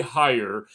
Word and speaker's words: Heyer: Uh, today I have a very special guest, Gary Hire. Right, that's how I uh pronounce it.